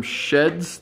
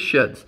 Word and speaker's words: SHEHDS: finally get there uh basically it's like an outdoor shed or sheds it just is pronounced differently so if you're wondering how you pronounce their deal is sheds we do have two